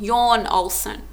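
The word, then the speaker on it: Jon Olsson: you're you're um it's it's spelled John Olsen but it's yawn yawn Olson his channel his girlfriend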